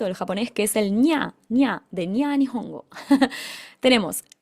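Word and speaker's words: にゃ: Esto suena casi como si fuera una ñ del español.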